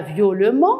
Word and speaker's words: violemment: le radical, et j'ajoute le EMAN, que je vais prononcer amant, comme violent, violemment. Je ne dirai pas violemment, je dirai violemment.